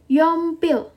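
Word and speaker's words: 연필: cek nah lanjut selanjutnya adalah Ya betul pensil yompil Oke yompil yom pil oke itu adalah pensil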